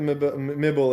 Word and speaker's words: Mibel: nibble like nibbles, but mibble. I got it. I get it. To be fair, Wrong the character syllable.